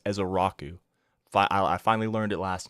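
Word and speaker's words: Ezeiruaku: It's Donovan Ezaraku. I believe that's how you pronounce his last name, is Ezaraku.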